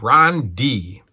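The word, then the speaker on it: Dee: Ron D, spelled D-E-E. Ron D. 2-syllable name.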